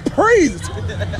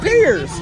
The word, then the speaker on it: Preice: My name is Priest. Pre-Ice. Who's that peers? He called me peers? All right, y'all, listen. My name is Priest, not peers.